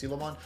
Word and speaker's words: Syakomon: Syakomon, I believe is how you're supposed to pronounce this. It's Syakomon. You Digivolve for 1, 5000 DP, and then he is a blocker.